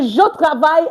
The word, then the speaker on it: je travaille: So, je travaille à Bordeaux. I work at Bordeaux. So, you see, I said the E here is not pronounced.